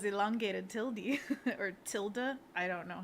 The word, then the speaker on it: tilde: And Annika's clarifying that it's tilde. Like, Tilda duh. Swinton.